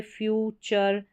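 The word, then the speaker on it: future: पीछे चर फिर टॉर के पीछे चर का उच्चारण हो रहा है यहां पर है फर्नीचर फिर है फ्यूचर फी चर कल चर इस तरीके से फिर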